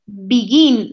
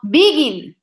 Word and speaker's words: begin: example with beginning okay because I say begin not begin okay because I am making the accent at the end begin I have to